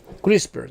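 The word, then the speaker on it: CRISPR: A palavra é complicada para pronunciar porque ela tem um P e um R junto, SPR no final, né? Eh, são três consoantes ali agarradas. Na verdade, é uma palavra de seis letras, sendo cinco consoantes e só uma vogal no meio. Para nós que somos aqui latinos, é um tipo de palavra meio difícil de se pronunciar, mas é isso aí, é o crispers, né?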